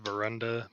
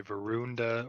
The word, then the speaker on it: Verenda: everything fine uh Mo it's pronounced verenda people just say veruna or Veranda Vera or Vero or something which everybody can call me AR she areu is